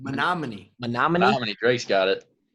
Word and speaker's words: Menomonie: even know if i can say it correctly menomonie nominated romney grace got it drake's got it menominee wisconsin to iowa city iowa um so i